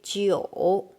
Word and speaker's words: 酒: And Jiu is Geu, 酒. Here, suppose if without two dot, it's supposed to pronounce u. But when G with this one, we don't need to write two dot because we don't have dual pronunciation.